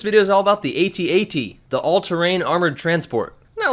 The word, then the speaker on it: AT-AT: And there's even a Times article that points out that Lucasfilm's public relations says that it should be pronounced phonetically, in other words that it rhymes with hat-hat.